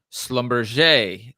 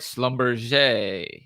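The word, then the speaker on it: Schlumberger: last week was and I'll try pronounce it in the French way Slumber ticker symbol SL lb did I say that right Slumber yeah or I think the French will actually say they'll get rid of the they they'll put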